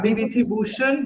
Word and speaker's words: Bibhutibhushan: I don't want to, yeah, Bibhutibhushan. yeah, Bibhutibhushan Bandyopadhyay, right?